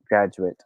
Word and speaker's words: graduate: a wink face guys if we are going to use this word as a noun or an adjective it will be pronounced as graduate graduate hindi graduate and graduate is a verb verb formula okay so for example um i am sure that you will graduate this year yeah that's correct it's